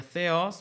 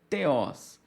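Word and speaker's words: θεός: Daí a palavra teos seria theos, mas podemos ler também como teos. Está aqui a letra θ com o epsilon, com o ômicron e com o sigma. Então seria theos, Deus, ok?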